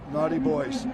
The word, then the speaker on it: Naughty Buoys: I'm not sure which order but it's we're pronounced Naughty Boys. Okay, this is the way it's spelled. Okay. Well, it's spelled like Naughty Buoys, but we know it's Naughty Boys.